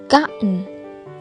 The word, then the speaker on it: gotten: Ở đây T đứng cạnh N nên là T câm, nên chúng ta đọc là gotten.